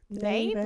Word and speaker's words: Knave: And book 2, The Knave and something. Knave, like knife? Or... No, it's The Knave. Okay. It's pronounced The Knave Okay.